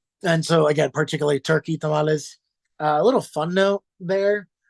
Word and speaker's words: tamal: a single individual one it's not actually how you say it it's a Tamal singular Tamal not tamali um Tamal is is